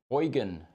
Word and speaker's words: Eugen: We have a question from YouTube, and I'm going to pronounce this because it's a German name. Eugen Faber.